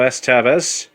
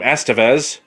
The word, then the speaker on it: Estevez: tape this is the mighty ducks with emilio s tavis or as you're supposed to pronounce his last name estevez by having seen one of the preview um